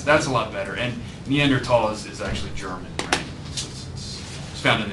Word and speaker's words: Neanderthals: than humans except like Neanderthals right so you guys know about Neanderthals and there should be at all not at all right so just like the H is silent just to throw that